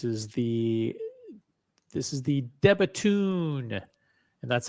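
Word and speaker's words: De Bethune: This is the This is the Debatun. And that's how you pronounce it. Debatun.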